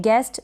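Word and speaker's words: guest: फिर ये है गेस्ट, इसको भी आप गेस्ट पढ़ेंगे, एस टी है लास्ट में, इसको आधे स, एस को और टी को ट के रूप में प्रोनाउंस करेंगे पूरा, और ई को ए की मात्रा के रूप में प्रोनाउंसिएशन होता है। जी को यानी जी के ऊपर ग के ऊपर ए की मात्रा के रूप में ये ई चला जाता है। बन गया गेस्ट, अतिथि या मेहमान।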